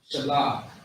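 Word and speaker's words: שלג: Shalah. Shalah is how you pronounce it.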